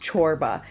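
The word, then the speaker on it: çorba: corba chorba corba so it's a c with a little Accent on it and it's pronounced chorba and marim chorba is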